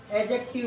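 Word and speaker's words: adjective: इस बात का ध्यान रखना है आपको, क्योंकि जब भी ध्यान रखना है ए और जे के बीच में डी आ जाता है वो साइलेंट हो जाता है।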